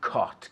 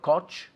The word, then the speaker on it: caught: Es como C-O-T, caught. Yesterday I caught. ¿Tú sabes las veces que he oído coach? Las veces que he oído coach, no es coach.